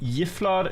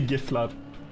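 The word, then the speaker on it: gifflar: soft G in Swedish. That's how they say it, bro. I'm sorry. I say Giflut, but uh you don't say Ylot.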